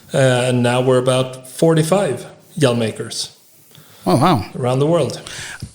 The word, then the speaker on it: Hjelmåker: how do you pronounce that second name? In English, it's turned into Hjelmåker. Yeah. Do you yell? I don't yell much. So that is not a proper representation of who you are. Not quite, no. Wouldn't say so. But how do you say it in Swedish? Hjelmåker. Hjelmåker. Oh, there you go. Hjelmåker. Yeah, exactly.